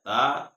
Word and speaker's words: ت: کو صحیح کرنا ہے۔ تا یہ نرمی سے ادا کرنا ہے، اور طا کو موٹا کرنا ہے۔ الثا، سین، شین، صاد،